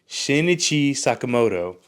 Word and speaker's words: Shinichi Sakamoto: that CI sin sini I always mispronounce their name wrong shinichi Sakamoto um is a good manga